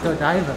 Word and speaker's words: Odaiba: It's pronounced Odaiba, by the way.